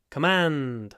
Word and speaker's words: command: don't know anyway um command not command command the stress is on the second syllable command and that means